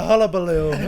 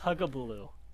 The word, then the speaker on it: hullabaloo: it's a oh hello we've been saying that wrong no no fuss it is a hullabaloo no so I've heard that but we we came up with huggabuloo hug a balloon GGA